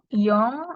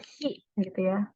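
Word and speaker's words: 四: 3 itu ada sang 4 itu Yong atau si tergantung mana yang dipakai 5 itu Go 6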